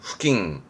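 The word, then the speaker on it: 付近: 발음은 후킹.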